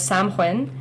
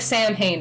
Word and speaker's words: Samhain: The original name was Samhain, which is Samhain, and you don't pronounce it like it's written in like English Sam lettering. Hain? Yeah, it looks like Sam Hain, but it's Samhain.